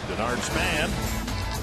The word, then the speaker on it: Denard Span: Denard Span, which rhymes with Menards.